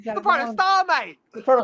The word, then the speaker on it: Protostar: The the prototype Kyle Fletcher, our TNT champion as Fletcher will take on Hangman Paige for the AW Championship.